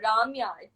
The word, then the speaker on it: Ramya: So basically, North Indians pronounce my name as Ramya. It's not Ramya. It's Ramya.